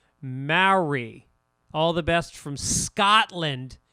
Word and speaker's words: Maori: And Maori is pronounced Mauri.